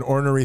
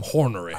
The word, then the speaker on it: ornery: And I want to punch a hole in the wall like an ornery 13-year-old, mm-hmm. which I am. Yeah. So, sure. And I pronounce the word horny like that. So, so nonetheless, I'm hornery.